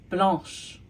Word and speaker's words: blanche: Feminine form, blanche. Blanche. Now, did it change in how it sounds when it went from the masculine to feminine form? It sure did. Blanc, blanche. So there you go.